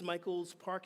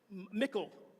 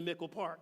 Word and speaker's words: Mickle Park: to, I think it's Michael's Park. Is that what it is, Michael's Park? Mickle. It's Mickle, okay? I didn't even know how to pronounce it. Obviously, I have not been to Mickle Park yet.